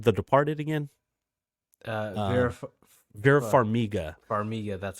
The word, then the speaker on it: Farmiga: Farmiga, that's how you say it.